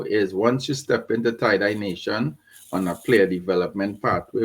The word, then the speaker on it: TiDi Nation: The name, as they probably can see with my name here, is TID Nation, and we pronounce it tiedye nation.